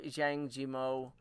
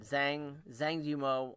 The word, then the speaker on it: Zhang Yimou: I love Zhang Yimou. I know I butchered that. Zhang Yimou.